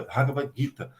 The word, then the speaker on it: Bhagavad Gita: Bhagavad Gita, o nome, a pronúncia em sânscrito é Bhagavad Gita.